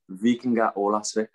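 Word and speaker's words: Víkingur Ólafsvík: In terms of the team you signed for in Iceland, what's the official pronunciation of it? Vikingur Olafsvik.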